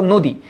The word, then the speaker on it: নদী: দেখো যেমন এখানে ধর নদী। তোমরা এভাবে লিখবা যে নদী হ্যা এটার উচ্চারিত রূপটা কি হবে? এটার উচ্চারিত রূপটা হবে নদি।